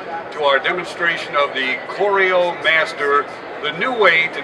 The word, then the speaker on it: CORIO: about our name Coro we spell it c r i o it's the same as Coro as in choreography to set up a